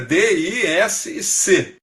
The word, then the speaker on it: DISC: um método chamado DISC, que pronuncia a letra D, I, S e C.